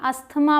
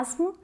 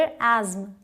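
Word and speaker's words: asthma: का नाम है जिसे आप सभी अस्थमा बोलते हैं, लेकिन इसकी प्रोनाउंसिएशन बिल्कुल अलग है। या तो इसे बोलते हैं एस्म या फिर एज्म, एस्म या एज्म। अमेरिकन इंग्लिश एस्म और ब्रिटिश एज्म।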